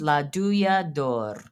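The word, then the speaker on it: Douja d'Or: Okay, but it's pronounced La Duyador.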